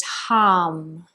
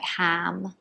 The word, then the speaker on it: ham: this chakra which is harm so it's spelt like ham and it's um but it sounds more like like harm it's not so much like ham it's more like a harm so think of the